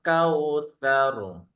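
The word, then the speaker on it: الكوثر: Inna a'tainakal kautsar. Sar. Karena dia tebal ya. Jadi ro yang diawali dengan huruf fathah atau dhamma, dia jadi tebal ya bacanya tebal dia.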